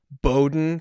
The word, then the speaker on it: Bowdoin: You went to Bowdoin College. Did I pronounce it right? You did.